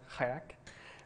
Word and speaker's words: kayak: Kelly Fraser recently told me that kayak is actually pronounced kayak, because it's an Inuit word.